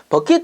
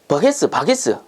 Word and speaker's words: 버킷: 그래서 옛날에는 보면은 그 다라이 양동이 보고 아줌마들 할머니들 보면은 야, 그 바게스 이렇게 부른단 말이에요. 바게스 버게스. 이게 뭐냐면은 버킷의 옛날에 일본 발음입니다.